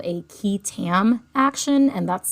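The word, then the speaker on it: qui tam: term for whistleblower suits is what's called a key Tam action and that's spelled q-u-i space t-a-m ketam and ketam is the abbreviation for the Latin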